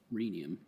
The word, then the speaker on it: rhenium: It's rhenium. Yes, because it has to rhyme with selenium.